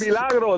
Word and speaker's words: El Milagro: El Milagro, that's exactly how you say it.